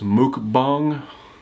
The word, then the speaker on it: mukbang: word but it's I've I've heard it pronounced Mook bong I'll put it up